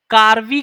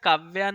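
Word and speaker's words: Karve: आता है हमेशा एक कार्वी कमिटी है कार्वी मैं स्पेलिंग साथ काव्या नहीं कार्वी है कार्वी है हां कार्वी है सी एन के ए आर व आई कार्वी कमिटी है जिसमें जिसने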